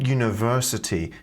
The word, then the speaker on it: university: graduated from and then University not University uni un university university and you also can't hear the r in University or in four so it's typical for